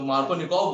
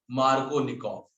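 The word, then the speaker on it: Markovnikov: मार्कोनिकॉफ, spelling बोलना MARKINOV, तो मार्कोनिकॉव हुआ? नो, मार्कोनिकॉफ।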